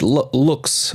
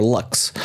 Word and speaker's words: Lux: of places and local nightlife spots amongst which looks or luxe but it's pronounced looks in in Lisbon and so you